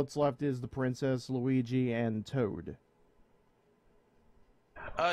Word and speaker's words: Luigi: princess one vote for Luigi or lugie as a as Aether guy types out funny thing when I was we little that's how I used to pronounce him lugie okay two votes for